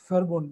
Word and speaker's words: Verbund: We have something called in German, Verbund. This V is called F, as they pronounce.